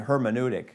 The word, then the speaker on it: hermeneutic: new tick it's British I said air monadic apparently you pronounce the H so I was I was schooled we say keep going oh that's more American Thank You hermeneutic alright and let's look